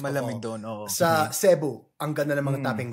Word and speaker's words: Cebu: Sa Cebu, ang ganda ng mga taping dagat.